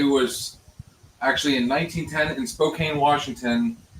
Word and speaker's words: Spokane: Okay, so I guess the first Father's Day was actually in 1910 in Spokane, Washington. It's actually pronounced Spokane.